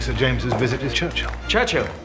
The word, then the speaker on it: Churchill: James's visit his Churchill Churchill that's how you say it all together like that I'd third church and Hill but couldn't find either